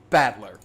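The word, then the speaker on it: Battler: the characters for fight and person and it's pronounced batler put it all together and you've got ushi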